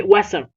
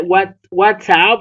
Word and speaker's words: WhatsApp: So we say WhatsApp. We don't say what what's up. It's like what's up?